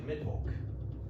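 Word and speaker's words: Mydvulq: And as you sort of go through this piece of land, you actually make it to the city of Midvolk. So it is spelled M-Y-D-V-U-L-Q.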